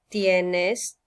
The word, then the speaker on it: tienes: Okay, and make sure that you pronounce the E like elephant and the I like E. Okay, so tengo, tienes, tiene, tenemos, tienen.